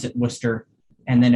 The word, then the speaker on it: Worcester: but we pronounce it worcester and then if you're somebody who truly grew up there you might say wusta so that's how i